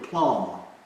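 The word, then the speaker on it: plomb: There's a word, plumb. Otherwise, Garni will probably get on me because I'll probably misspell it. But P-L-O-M-B.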